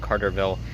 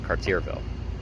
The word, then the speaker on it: Cartierville: the last video I was wrong on the pronunciation of the second half of its name it's not Carterville it's cartierville so my mistake but I'm in this Borough